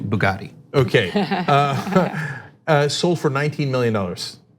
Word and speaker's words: Bugatti: I just saw a story coincidentally earlier today about a Bugatti, just Bugatti. It's pronounced, I woke up in a new Bugatti.